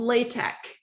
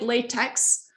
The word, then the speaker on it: LaTeX: program in what's called latex right and it's spelled like latex but uh be cool and call it latex okay uh so don't call it latex call a latex because that's what it's called so um we will